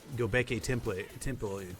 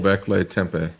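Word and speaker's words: Göbekli Tepe: But there's like Gobeke Temple. Gobeke Temple. Is that how you say it? Gobekle Tempe. Yeah, Gobekle Tempe.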